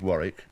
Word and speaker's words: Warwick: the united states and i understand that the w is silent in europe so i answer to both right have you been to warwick absolutely you haven't done